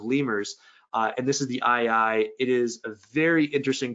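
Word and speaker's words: aye-aye: always been the case it's the ii and that's spelled a-y-e-y-e um so if you remember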